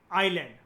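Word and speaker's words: island: जैसे हम लिखते हैं ना इजैंड लेकिन बोलते क्या है इसको आइलैंड तो हमें पता है कि यहां पर हमारे फिनेटिक्स की अंडरस्टैंडिंग ये होनी चाहिए कि एस साइलेंट है इसको फिनेटिक्स कहते हैं।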